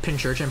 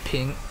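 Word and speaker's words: Pincurchin: Pokemon pronunciation guide. No, it says Pinch Urchin.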